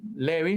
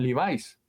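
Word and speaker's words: Levi's: la marca de pantalones Levis le decimos Levi no le decimos livais pero en otras partes le dicen livis pero entonces aquí a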